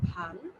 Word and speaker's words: ভালো: বুঝবো যে এটা হচ্ছে ভাল, এবং এই ভাল অর্থ হবে কপাল। এই দেখো একটা ওকারের জন্য অর্থ পাল্টে যাবে। একটা ওকার যদি থাকে সেটার উচ্চারণ হবে ভালো, অর্থ হবে উত্তম, আর